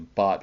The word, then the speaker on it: Bach: The plant is used in Bach flower remedies or Bach flower remedies. They tell me is how it's supposed to be pronounced, but I'm still not quite sure about that.